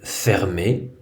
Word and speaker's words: fermé: Par exemple, dans le mot fermé, le deuxième ER est un costume du son E. Il se prononce E, il ne se prononce pas R.